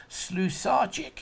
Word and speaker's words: Slusarchik: I always say it's Slusarchik. Is that right? That's perfect.